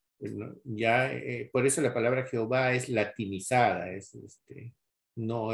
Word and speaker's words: Jehová: de ahí pues seduce Jehová no nosotros en el español lo traducen Jehová por qué lo traducen en Jehová por las vocales de la palabra Adonai que dejaron los masoretas por eso es de